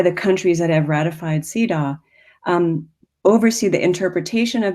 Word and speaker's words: CEDAW: sarcastically and he said cedaw rhymes with hee haw um in a famous